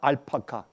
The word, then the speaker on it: 알파카: 그 애프리카시 아니라 알파카. 제가 이 발음을 잘못했네. 제가 알파카.